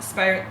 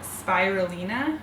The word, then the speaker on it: spirulina: and purees and then spiral spirit spirulina is how you say that chlorella there is